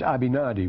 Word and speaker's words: Abinadi: god well for example the germans pronounce our ibook of mormon names very differently from that abinadi which is perfectly natural with us is abhinadi with them they wouldn't recognize a benedict millionaires it's abhinadi which is probably closer to